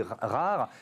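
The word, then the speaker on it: R4RE: Alors ça s'écrit R4 RE. Ça se dit rare.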